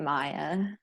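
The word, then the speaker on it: Maia: M-A-I-A. Is it me? You say it Maya.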